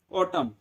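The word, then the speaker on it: autumn: पतझड़ को इंग्लिश में क्या बोलते हैं, ऑटम, right. So it's answer will be ऑटम season, AUTUM, एन जरूर आएगा, याद रखना एन साइलेंट होता है, ठीक है।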